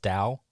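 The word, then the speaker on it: Tao: o but it's spelled it's pronounced Dow yeah with like a D yeah it's a weird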